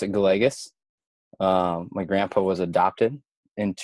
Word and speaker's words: Gallegos: about my last night that's funny we actually pronounce it go legis my grandpa was adopted in from he is